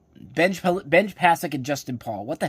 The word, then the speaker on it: Benj Pasek: Am I even pronouncing that name correctly? Benj Pasek and Justin Paul. What the hell was I saying beforehand? Benj Pasek and Justin Paul.